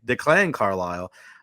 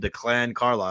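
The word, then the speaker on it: Declan Carlile: this system for a long time and then Declan Carile and we were joking upstairs declan Declan Carile Um, I love the emphasis on the Paul Porter the other night and I called him Declan Carla.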